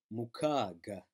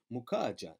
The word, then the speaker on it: mukaga: Now, notice that G, you may or may not mispronounce that as a soft G, because you see in Kalunji, so you're thinking, oh, maybe it's Mukaja. No, it's Mukaga, as in Malaga, you know, Mukaga, Malaga, Mukaga, Malaga.